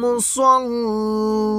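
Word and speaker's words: لِّلْمُصَلِّينَ: এখানে আবার একটু দেখে নিই, ফাওয়াইলুল লিল মুসাল্লিন। এখানে কিন্তু অনেকে বলে মুসাল্লিন, এখানে মুসাল্লিন বলা যাবে না। এখানে সদের উচ্চারণ সদ জবর স হয়, সদ ইস্তিলার হরফ, সদ জবর স বলতে হবে।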